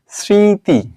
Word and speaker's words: স্মৃতি: ম টা কোথায় গেল শব্দের তো ম উচ্চারিত হয় না তবেই তবে এটা যেহেতু নাসিক্য বর্ণ এজন্য এখানে চন্দ্রবিন্দু দিয়ে বোঝাতে হবে যে এই উচ্চারণে নাক দিয়ে উচ্চারণ করতে হবে এই উচ্চারণে আমাদের নাক দিয়ে বাতাস বের করতে হবে সুতরাং স্মৃতি এর উচ্চারণ লিখতে হবে এভাবে সের র ফালা চন্দ্রবিন্দু ইকার ত ইকারে তি স্মৃতি একই ভাবে আমরা যদি